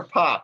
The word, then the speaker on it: Popp: Is it Pap or Popp? I'm oh, sorry. It's Popp. You said it right. Yeah. Popp. Okay, I thought so. Okay. Pop like popcorn.